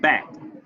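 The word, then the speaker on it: Bakkt: It goes on to say, together the companies will launch a product called BACKED, pronounced BACK, or BACKED, allowing users to convert crypto coins into US dollars they can spend on Starbucks products.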